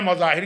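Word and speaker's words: مظاهر: इनके बाप का नाम है मुजाहिर। हमारे यहां मजाहिर पढ़ा जाता है। चले वो तो एक प्रोनाउंसिएशन का फर्क है।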